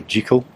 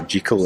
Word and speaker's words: Jekyll: Jekyll and Mr. Hyde, and and note the pronounce. It is Dr. Jekyll. It was just, it was Hollywood that got that bit wrong. It's Dr. Jekyll, not Dr. Jekyll, and it was named,